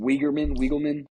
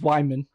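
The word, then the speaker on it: Weigman: What is it, Wiegelman? Weigelman? It's Wyman.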